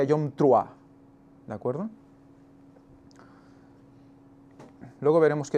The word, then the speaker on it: Yom Teruah: Antes de nada, recordar que en hebreo es Yom Teruah, el día de la fiesta de las trompetas, le llaman, o la traducción o la pronunciación correcta sería Yom Truah, ¿de acuerdo?